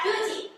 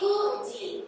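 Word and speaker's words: 九時: Jadi kalau angka 9 Q tapi kalau tiara jam jam boleh kuji bukan cuci tapi kuji.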